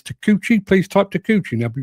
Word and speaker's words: Takeuchi: It's take t a k e u c h i. Take u c h i. Takeuchi. That's how you spell it.